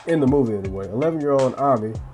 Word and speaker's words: Ami: 11-year-old Ami, spelled Amy but it's pronounced Ami, played by Fatia Yusuf, I think that's how you pronounce her name, who is 14 in real life.